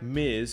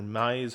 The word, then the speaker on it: Mize: hit righties very well casey miz or mize however you pronounce it i believe it's miz not having a great